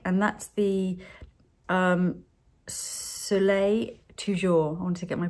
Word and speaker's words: Soleil Toujours: So this is something that I needed to perfect, if you like, and that's the Soleil Toujours. I wanted to get my pronunciation right. Soleil Toujours.